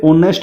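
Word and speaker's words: honest: जैसे यहाँ पे एन ऑनेस्ट का यूज हुआ है, ऑनेस्ट एच यहाँ पे साइलेंट रहता है, तो यहाँ पे ऑनेस्ट इसको बोला जाता है जो कि ओ की साउंड करता है।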